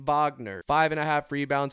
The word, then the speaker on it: Wagner: for five and then old Wagner old Vagner if you want to be correct in the pronunciation Vagner five and a half